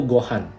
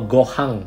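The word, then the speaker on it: ご飯: ketika dia jatuh, pesawat sayanya jatuh ke bumi dan ditemukan oleh kakeknya namanya Son Gohan itu tadi.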